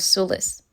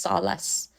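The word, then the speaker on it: Solis: a particular pronunciation of Solus that the prcess is always changing keeps coming up like she said oh the kingdom of prcess not like no no it's not pronounced Sol it's pronounced Solace you know just one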